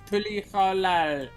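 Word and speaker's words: Tuliyollal: That's not how you say it. Where? Cough. That is also not how you say it. I said Tulihyolal.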